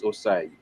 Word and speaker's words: Osai: course, you just heard we had a chant for Osai, or for some people say Hosain, or Osanian, right? But the pronunciation is Osai.